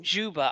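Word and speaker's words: Dzyuba: to be mainly in zuia is that how you pronounce it zba zba that's Juba I'm reliably informed but you can have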